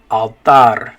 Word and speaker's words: altar: so it's altar altar in english you say alter in spanish you say altar good job okay next